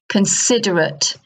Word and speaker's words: considerate: So here we have considerate, considerate, and the stress is on the I, considerate, inconsiderate.